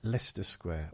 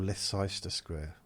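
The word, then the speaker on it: Leicester Square: Yeah, I always loved I don't know what it's like now, but Lester Square or Leester Square you might pronounce it.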